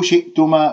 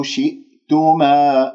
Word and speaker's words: شئتما: ضمة الثاء، شي شئتما، اكسر الشين والهمزة ساكنة، ممكن أن تقول شئتما وهذا خطأ، يجب أن تنتبه بقفل الأوتار الصوتية وتنتقل إلى المقطع الثاني تما، يعني شئتما شئتما، هكذا تقرأ من غير أن تقول شئتما أو شئتما، ما قفلت الأوتار الصوتية فتخرج عندك أنه همزتين أو ثلاثة.